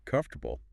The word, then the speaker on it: comfortable: All right, so to wrap up today, we've looked at 3 words that are often mispronounced. Yes, let's recap. Wednesday, which, remember, is Wednesday. Wednesday, Comfortable.